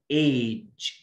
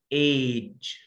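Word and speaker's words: age: When the letter G comes between two vowels we pronounce the letter G ج ج ايج ايج.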